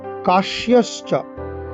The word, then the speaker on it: কাশ্যশ্চ: কাশ্যশ্চ কয়াকার তালিব্য জফলা তালিব্য ছয় তালিব্য বর্ণ শয়ের উচ্চারণ করতে হবে।